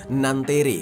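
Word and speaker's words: Nanterre: bernama views phone di nantere Kalau bahasa Prancisnya itu bacanya nanter Nah karena kita orang Indonesia kita bacanya nanti aja ya geng supaya lebih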